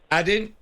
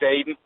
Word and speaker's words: Aiden: doing the first time I said addin what were you doing I'm trying to figure out if you actually say my name or not it's Aiden Aiden would spell it